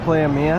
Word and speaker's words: Playa Mia: So we are at Playa Mia.